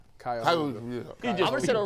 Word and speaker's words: Cuyahoga: And in case you're not sure how that's pronounced, it's Cuyahoga Community College. Cuyahoga.